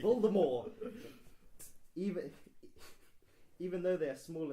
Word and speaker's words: Voldemort: The T is silent. Look how you pronounce the T. Voldemort.